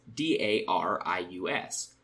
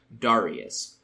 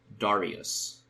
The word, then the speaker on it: Darius: English speakers say it darus daras daras classical Latin would have been Darius and easily elides back into Darius if you're not thinking